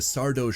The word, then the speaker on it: Sardo: Deciding that this thing is no good, Rush heads back to Sardo's shop to return everything. Mr. Sardo, SO mister accent on the dough.